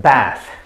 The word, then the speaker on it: bath: in between okay so the first one sounds like bath and the second one sounds like bathe bathe okay and only